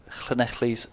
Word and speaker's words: Llanelli: 9 as the ball hands over back to Llanelli's Sarah Phillips. Sussex need over 10 and over, Aled. And not bad pronunciation there for an Englishman, Llanelli.